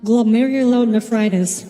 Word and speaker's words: glomerulonephritis: Oh, by the way, Tommy, to answer your previous question, it is pronounced glomerulonephritis. For our survival, Glomerulo as in glomerulus, and nephritis as in inflammation of the kidney.